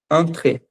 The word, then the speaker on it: entre: Dacotê, Dacot é do lado e antra é entre, se escreve igual o português, entre a gente só pronuncia diferente, que é entre a esse en tem som de antre, né?